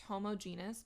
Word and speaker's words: homogeneous: There are homogeneous mixtures. You might also hear this pronounced homogeneous. Both are acceptable.